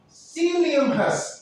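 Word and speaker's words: psyllium: Sium. Sekali lagi cara bacanya. P-nya jangan dibaca, ya. Jadi, teknik bahasa Inggris itu P dengan S, P-nya hilang.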